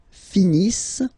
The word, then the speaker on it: finissent: Ils finissent. So remember, as usual, when we've got the verbs ENT not pronounced.